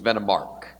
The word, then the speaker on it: Venomark: The pronunciation is a little off, but I'll accept that. It's the proper pronunciation was Venomark. So I'll accept that. I'll accept that with the soft R.